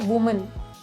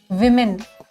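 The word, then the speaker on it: women: Similarly इसको हम कैसे प्रोनाउंस करते हैं, इसको हम बोलते हैं वुमन, वुमन, और इसका प्लूरल होता है विमेन, विमेन। वुमेन नहीं होता और वुमेन नहीं होता, इसका प्रोनाउंसिएशन होता है विमेन।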